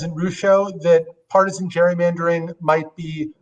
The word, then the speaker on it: Rucho: the case that came, am I saying it right? Is it Rucho? Okay, I thought it was Ruco first, but anyway, so when